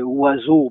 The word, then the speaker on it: oiseau: Oiseau, c'est presque un idéogramme parce qu'il n'y a aucun son pratiquement qui sort de ce qu'on voit écrit. Il n'y a pratiquement rien qui se fait entendre.